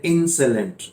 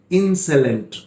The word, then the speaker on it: insolent: पहला आपके सामने इंसेलेंट, स्पेलिंग पे ध्यान दे, INSOLENT, और इसका प्रोनाउंसिएशन है इंसेलेंट। कुछ लोग इसको इंसोलेंट बोलते हैं, SO को वो सो में प्रोनाउंस करते हैं, जो कि गलत है। This is इंसेलेंट।